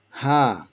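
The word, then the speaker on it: ه: Ha, this is the equivalent of English H, like Henry or hello. So this is ha, very straightforward, no constriction, no squeezing.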